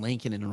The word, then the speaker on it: Lankinen: On the pronunciation from Hockey Reference says Lan, L-A-N-K, K-I-H, and then Nen, N-E-H-N. Lankinen? Lankinen?